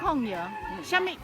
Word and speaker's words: Kòng yáo: AHHHH "BBQ we call it Kòng yáo."